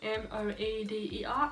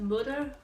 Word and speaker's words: moeder: Moeder, M-O-E-D-E-R, I'm pretty sure it's spelled. Pronounced moeder, so kind of like mud and an but moeder with a bit of an E tone to it.